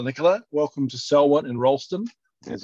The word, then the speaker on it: Rolleston: Welcome to Selwyn and Rolleston, as it's properly pronounced.